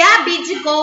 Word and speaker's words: abdicou: O B de abdicou, ele é mudo, viu?